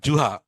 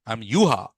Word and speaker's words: Juha: I'm Yuha. So J they pronounce as Y.